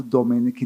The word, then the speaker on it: Domeneck: A primeira coisa que eu queria ressaltar é porque somente hoje eu descobri que a pronúncia certa é Ricardo Domenech, não Domenech.